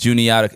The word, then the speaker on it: Juniata: Juniata. It's just south, 30 miles south of Penn State, in a small town called Huntingdon, Pennsylvania. Huntingdon? Yes, and it was called Juniata College. It's spelled like Juanita.